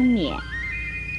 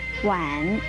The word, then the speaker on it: 娩: 第一个读音是猫眼娩，三声娩，另外一个读音是碗，三声碗，乌碗碗，三声碗。